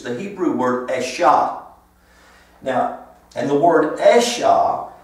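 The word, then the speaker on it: אשה: not the hebrew word it's the hebrew word esha now and the word esha actually is referring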